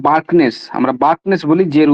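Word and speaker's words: Bjerknes: এরপরে ডাইরেক্ট তোমার হচ্ছে গিয়ে আমরা যে তত্ত্বটা পড়ি 1918 সালে 1918 সালে জার্কনেস বা বার্কনেস আমরা বার্কনেস বলি যের উচ্চারণ হয় না।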